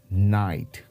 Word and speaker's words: night: the next word night now here again the letter G won't be in effect so we'll pronounce it as night as we can see here the proper pronunciation is night we need to be